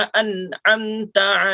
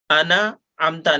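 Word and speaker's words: أنعمت: सिरातल लज़ीना अनअमता अलैहिम। अना अमता नहीं अनअमता अलैहिम। सिरातल लज़ीना अन्अमता अलैहिम गैरिल मग़्ज़ूबि अलैहिम वलद्दाल्लीन गैरिल मग़्ज़ूबि अलैहिम वलद्दाल्लीन।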